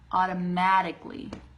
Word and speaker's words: automatically: said automatically automatically okay so I'm gonna break this down for you ah Otto Otto uh by the way is the most common sound I think in or the most common folk vowel sound in the English language so Otto Maddock Lee automatically I hope that helps